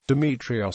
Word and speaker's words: Demetrios: the ancient Greek pronunciation the Byzantine and modern Greek pronunciation is romanized as Demetrios demitrios see Demetrios for